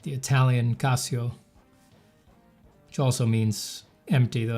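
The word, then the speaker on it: Cassio: Casio like the calculator? Yeah. Pronounced the same but with one s.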